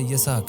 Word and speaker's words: اسحاق: آپ کا اسم گرامی اسحاق تھا جو اصل تلفظ کے اعتبار سے یسحق ہے۔ یہ عبرانی لفظ ہے